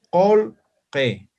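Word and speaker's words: qullqi: La pronunciación va a ser colque, colque, colque, que significa dinero.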